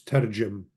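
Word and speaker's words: תרגם: The root is tau resh gamel meme, and it's targum, which means to translate or to explain. Targum, and what's usually pronounced with the gamel being sort of softened as a J, so it's tarjum.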